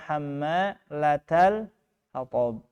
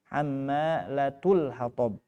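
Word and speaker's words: حَمَّالَةَ الْحَطَبِ: Nah, di sini ada perbedaan cara baca ya. Kalau kita bacanya hammalatal hatab. Kalau riwayat yang lain hammalatul hatab.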